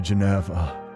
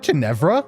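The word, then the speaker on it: Ginevra: What happened to Geneva? Wait, is it Janevra? I always thought it was Geneva. Janevra. I've been saying that name wrong the entire time.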